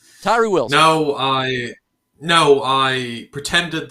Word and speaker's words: Tyree Wilson: the 2023 NFL draft it rhymes with ryrie Wilson Tyree Wilson no I no I